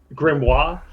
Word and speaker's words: grimoire: Do I pronounce this in French? Grimoire? Grimoire.